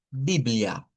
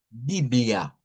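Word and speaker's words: Bíblia: Eh, nos dice, ¿verdad?, la estadística que la Biblia en portugués se lee y se escribe casi igual, solo que la A del final es una a centralizada. Entonces decimos Biblia, Biblia a ah más marcar.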